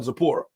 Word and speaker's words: Zapora: her Tori now y'all call her Zapora with with a silent T okay yeah you can